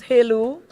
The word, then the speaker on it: Jelu: Jelu, pronounce Helu.